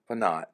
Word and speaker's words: Phanat: It is, and so I was really excited to get my guest today, Phanat. So Yes. welcome, thank you so much. Am I pronouncing it right? Phanat is correct.